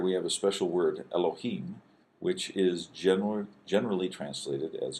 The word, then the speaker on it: Elohim: This is the lamed is a L sound, O, ha, and then a long E sound, and then a final M or mem. So Elohim.